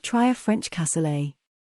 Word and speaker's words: cassoulet: If you'd prefer beans to rice, why not try a French cassoulet? Pronounced cassoulet, it's traditionally a simple country meal of beans and meat, with a few of your favorite vegetables.